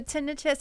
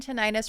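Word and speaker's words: tinnitus: So, tinitus and tonitis are both acceptable terms.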